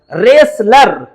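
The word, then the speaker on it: wrestler: रेसलर यहां पर डब्ल्यू के बाद आर आता है। तो जहांजहां इंग्लिश में डब्ल्यू के बाद आर आता है, वहां डब्ल्यू हमारा साइलेंट रहता है।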